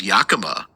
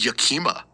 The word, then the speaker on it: Yakima: Well, the other thing that frustrated me was he mispronounces Yakima. To He says Yakama. Oh. He said, like, I looked across toward Yakama and saw all these things remember that part.